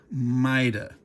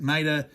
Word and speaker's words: Maida: So, you shouldn't say Maida, you should say Maida. Okay? I'm not going to fault you if you're British and you say that way, but if you're if you're not British, go ahead and and and pronounce it Maida, unless you don't want